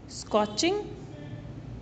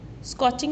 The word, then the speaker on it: scorching: स्कॉचिंग. स्कॉचिंग में बच्चों are silent है, हम आर को प्रोनाउंस नहीं करेंगे.